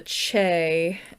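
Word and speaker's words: Chee: But there's this android race called the Che. Look it up. That's the correct pronunciation if anyone's going to correct me.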